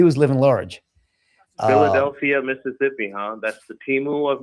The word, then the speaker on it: Mississippi: Actually, when you grow up in Mississippi, it's not Mississippi, it's Mississippi. It's Mississippi, Mississippi. That's how you say it.